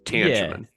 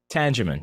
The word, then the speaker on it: Tangeman: People are wondering if See- it's a G or a soft G. So it's Tangeman. Tangeman, yeah.